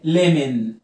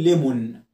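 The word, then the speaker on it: lemon: وعندك او ان، اوعى تنطق الاو وتقول ليمون، ليمون ليمون ليمون، الاو هنا سايلنت، تمام؟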